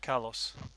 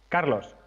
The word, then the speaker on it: Carlos: How would you say Carlos? Carlos. Carlos. I should roll my You missed you missed Carlos. the, you missed the R.